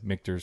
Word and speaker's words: Michter's: Michael said Michter's correctly.